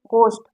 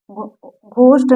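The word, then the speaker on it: ghost: जैसे यहाँ देखिए गोस्ट, इसको घोस्ट नहीं कहते, इसको गोस्ट कहते हैं।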